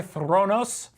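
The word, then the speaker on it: Thronos: it's called the predator theranos you don't have to roll your R's there I just did because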